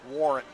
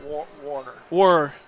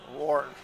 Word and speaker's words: Warren: It's Mike Warren, not Warner. Warren.